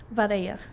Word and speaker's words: Vidalia: Vidalia.